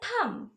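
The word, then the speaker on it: thumb: fingers এটাকে বলা হয় থাম থাম থামের স্পেলিং এ একটা বি আসে লাস্টে কিন্তু বিটা সাইলেন্ট ওয়ার্ড এটাকে বলা হয় থাম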